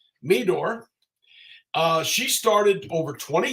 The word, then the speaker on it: Meador: we bring her on Jackie I'm hoping I pronounced her name right Meador uh she started over 20 years ago am